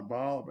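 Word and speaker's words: Baal: by the way now I know how to pronounce the name anyway in the sacri you say I was it B all are ball no it's ball you know so it's bizarre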